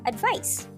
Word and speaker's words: advice: Advice with the letter C in it is pronounced as advice. Letter C there has the S sound.